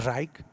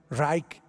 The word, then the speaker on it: Reich: del cese romano y el tercer raid o rage y como como se lee en español pero más o menos se pronuncia así el tercer reich eso significa el tercer